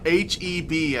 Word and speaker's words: HEB: It's pronounced HEB, okay.